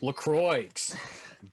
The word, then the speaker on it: LaCroix: It's pronounced LaCroix.